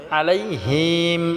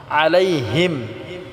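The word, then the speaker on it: عليهم: আলাইহিম আলাইহিম আলাইহিম টা আমরা আইন টাকে গলায় চাপ দিয়ে উচ্চারণ করতে হবে আলাইহিম অনেকে আছে আমরা হিম বলি হিম হবে না আলাইহিম এখানে কোন টান করা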